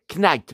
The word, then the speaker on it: Knight: Knight mais le cas ne se prononce pas comme Michael Knight.